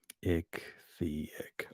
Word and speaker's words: ichthyic: Among these reliefs were fabulous monsters of abhorrent grotesqueness and malignity, half half how do you pronounce that word? Ichthyic.